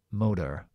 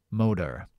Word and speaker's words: motor: rápido y bajas entonces yo voy a decir el británico e M M o podía decir el estadunidense que sería haciendo flap motor motor pero yo digo m